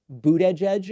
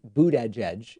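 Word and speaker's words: Buttigieg: and so i've just been pronouncing it that way pete boot edge edge even though i'm not running it together the way a normal person might do i'm glad that you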